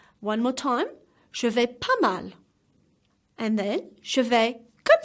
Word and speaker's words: je vais pas mal: Je vais pas mal. As you can see, the S is silent. The two S at vais and pas. One more time. Je vais pas mal.